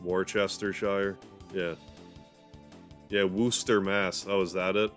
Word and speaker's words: Worcester: that for years war Chester Shire yeah yeah Wooster Mass oh is that it yeah scos the